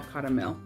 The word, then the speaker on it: Caramel: But then on the Zero Strays Facebook group, I saw Caramel. So her name is Carmel, but here it's pronounced caramel.